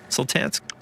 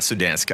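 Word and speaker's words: Sultansk: to dank is that is that how you say it Sultans Sultans yeah Sultans not sudans I don't know why I said sudans so I'm going over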